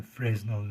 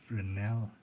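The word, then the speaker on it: Fresnel: by the way learned that it's not a frasal lens it's pronounced frel so it tries to dissipate the he directly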